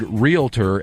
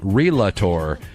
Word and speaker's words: realtor: one's pink and lastly marcus repeatedly mispronounced the registered trademark word realtor as relator that incidentally is one